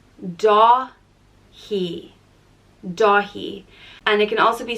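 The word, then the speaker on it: Dáithí: and it means swiftness or nimbleness and it's pronounced do he DOI and it can also be spelled without the F over the a which would change the pronunciation to dahi dahi and this is the Irish of the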